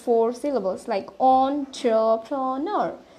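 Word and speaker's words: entrepreneur: So আপনাদের যদি pronunciation শেষে আমি বলি এটা প্রোনাউন্সিয়েশন হচ্ছে অন্টারপ্রেনর. ইটস অন্টারপ্রেনর. আমার সাথে সাথে আপনারা রিপিট করবেন অন্টারপ্রেনর. সো the word here is অন্টারপ্রেনর. সো এখানে আমরা দেখতে পাচ্ছি ইট have four syllables actually. So উই can speed this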